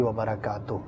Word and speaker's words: وبرکاتہ: کی برکت عطا فرمائے۔ اصلاح کی نیت سے یہ عرض کرتا چلوں کہ ورحمۃ اللہ وبرکاتہ درست تلفظ نہیں، بلکہ جیسے آپ نے کہا السلام علیکم ورحمۃ اللہ وبرکاتہ، تا پر جو ہے وہ پیش ہے، تو پیش کے ساتھ جو ہے اس کو ادا کیا کریں، تاکہ جو ہے یہ